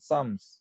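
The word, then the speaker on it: Psalms: 이 피가 묵음입니다. 영어이기 때문에 피가 묵음이고요. 쌈스 이렇게 됩니다. 예. M도 묵음, L도 묵음이에요. 쌈스.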